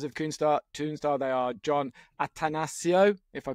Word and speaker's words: Atanasio: I've been practicing because I kept missing off the second Asio.